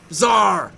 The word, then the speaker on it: Czar: It's Czar like the Russian Czar.